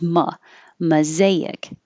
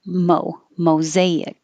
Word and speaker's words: mosaic: hear this both ways more commonly is ma mosaic but you will also hear with a mo mosaic and again you don't